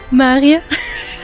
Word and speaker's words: Mariager: Ça s'écrit Mariager, mais ça se prononce Maria. Un truc du genre.